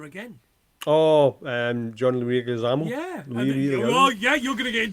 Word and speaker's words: Leguizamo: Leguizamo. You're going to get in trouble from the Americans for not being able to pronounce the Greasy-Amo.